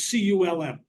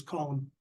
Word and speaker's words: culm: This is a slurry of water and culm, or was what locally is called column, but it's C-U-L-M, culm. But the local pronunciation is column.